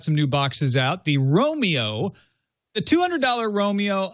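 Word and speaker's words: Roamio: The Romeo, the $200 Romeo, I don't think should be called Romeo. It's spelled R-O-A-M-I-O.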